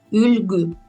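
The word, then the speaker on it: үлгү: Например, Ülgü. Здесь, получается, нету, не пишется, то есть мягкий знак, но он читается как Ülgü, потому что есть буква Ü.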